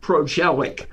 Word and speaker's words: Prozialeck: yeah thanks a lot for uh doing the podcast and and how do you pronounce your last name it's uh pronounced progelic pragelic okay yeah it's an old ukrainian word